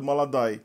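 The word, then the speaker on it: молодой: Por isso que a gente viu que o que é escrito molodói é pronunciado maladai.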